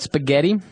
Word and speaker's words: spaghetti: And what about spaghetti? Spaghetti. Spaghetti. Oh, you pronounce the double T as well.